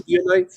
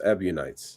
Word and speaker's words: Ebionites: Early Christian groups literally denied the crucifixion, like Docetists, Basilidians, even like some it's spelled like Ebionites? Ebionites, yes, Ebionites.